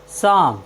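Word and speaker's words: psalm: एस हो तो हम पी का उच्चारण नहीं करते हैं जैसे पी एस ए एल एम साम साम मीस होता है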